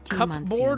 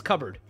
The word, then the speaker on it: cupboard: expensive is it pronounced cup board or cupboard cupboard cupboard cupboard cubby it's covered it's not spelled that way but it's pronounced that way cupboard is it for